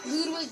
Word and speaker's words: Ludwig: so handsome is lud or lwig sure it's pronounced Ludwig Ludwig V so that was easy as you all